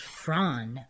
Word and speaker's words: Froon: Lzanne Frun, phonetically pronounced as Fronn with a hard trilled R. Fronn is tall, 184 cm, athletic, and just graduated from university studies in applied psychology.